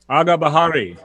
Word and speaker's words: Agah Bahari: Agah Bahari. That's pronounced correctly?